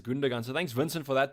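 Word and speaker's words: Gündoğan: that is true uh that's wrong it's pronounced as gundagan so thanks vincent for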